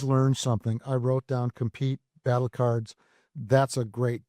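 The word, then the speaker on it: Kompyte: So like as an example, there is a tool called compete. It's spelled with a K. K O M P Y T E.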